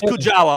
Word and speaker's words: Kujawa: oh let's see Anthony Kujawa kuwa that's Kujawa all day long there's no way that's